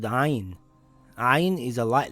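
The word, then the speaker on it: عين: This letter is called ayn. Ayn is a light letter. To pronounce ayn, it must come from the back of the mouth in the throat. If you pronounce it as ayn, as in the letter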